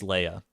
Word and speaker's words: Leah: mean that's very true if you want to pronounce it Leah I'm not going to stop you I'm just telling you it's Leia for me from for my purposes it's it's always going to be a Leia but if you want